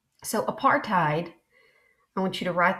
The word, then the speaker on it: apartheid: called apartheid okay and that's how you say it apartheid might you tied a knot and apartheid is an Africans word Afrikaans word meaning apartness so what I want